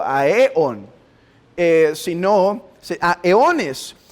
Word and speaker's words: aeón: El término técnico es aeones, A-E-O, acento en, aeón, un aeón o aeones. Si lo decimos en singular, lleva acento en la O, aeón.